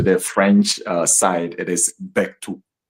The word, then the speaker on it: Berthou: you come to the French side, it is Bectu. Bectu. Yeah, and it's a French name, though. It's a French name. That's why it has that. But as I was growing up, we just had it as Beto, Beto, Beto, because I didn't even know how